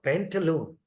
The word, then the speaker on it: pantaloon: So the second syllable of the word, when we say ooh, loon, pantaloon, so I is also not long. It's a pantaloon. When you say the word in one go, it says pantaloon. So the only one vowel in the second syllable, ooh, is longer than rest of it.